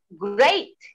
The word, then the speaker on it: great: Ada EA yang dibacaannya A, EI dibacanya. Misalnya great, great. We don't say great, we say great. You look great today. Ya, jadi EA dibaca EI.